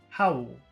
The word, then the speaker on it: howl: Can you hear the difference between number one, howl, and number two, hole?